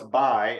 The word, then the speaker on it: Bye: asked before we started how to pronounce my name well it's bi and um and people